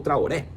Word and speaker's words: Traoré: E o José Boto falou também sobre o atacante Lassina Traoré, ou Traoré, como você quiser pronunciar, você tem esse direito.